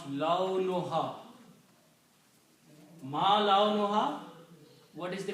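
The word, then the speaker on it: لونها: Ma, laun, we say laun, but the actual word is launun. Launun means color. And when you combine these two words together, launun and ha, you pronounce launuha.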